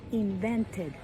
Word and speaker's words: invented: So you need to pronounce the E. It sounds like entre E y la letra I. It's kind of, not exactly the letter E, but you have to pronounce it.